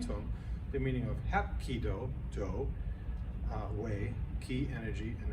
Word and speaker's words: Hapkido: Hapkido, 3 syllables.